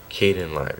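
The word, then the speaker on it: Kdenlive: It's called Caden Live, yeah, that's how you pronounce it.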